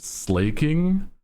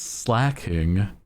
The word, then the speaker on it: Slaking: heard people say it's they they pronounce it slaking dog it's a pun what what do you mean slaking it's slacking because he's slacking what are you talking